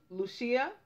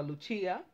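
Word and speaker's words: Lúcia: summer of 1916 9-year-old Lucia or Luchia depending on how you want to pronounce it Santos and her cousins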